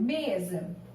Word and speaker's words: mesa: Mesa. Mesa. Qual a sílaba que eu demorei maior tempo chamando? O me. Então, agora eu tenho uma palavra paroxítona.